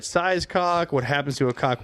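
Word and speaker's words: Kok: That round ball is called a cock, a K-O-K it's spelled.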